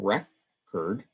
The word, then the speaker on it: record: to the syllable stress with uh the noun we stress the first syllable recurred and with the verb